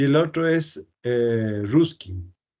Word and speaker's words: Ruskin: y el otro es ruskin Sí ruskin con k estos dos personajes eh